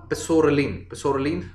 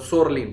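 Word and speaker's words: psoralen: So that is like वो दवाई जो होती है उसका नाम होता है सोरलीन, मतलब सोरलीन, पी साइलेंट है, सोरलीन, इसलिए इसको PUVA बोलते हैं, राइट।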